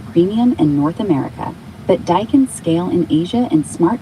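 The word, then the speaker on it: Daikin: It's spelled D A I K I N like Dykin.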